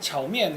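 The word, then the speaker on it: 炒面: 그래서 원래 중국 발음은 차오면 그래가지고 볶음면이란 소리예요.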